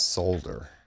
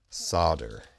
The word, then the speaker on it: solder: the correct pronunciation is solder not solder there is an L there oh and here's our